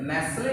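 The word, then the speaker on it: nestle: नेस्ले जो है इसका होता है पनाह देना, शरण देना। ये नेस्ले में भी टी साइलेंट है और मैच भी टी साइलेंट है।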